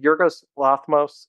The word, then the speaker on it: Yorgos Lanthimos: Yorgos Lanthimos, I believe I pronounced his name correctly.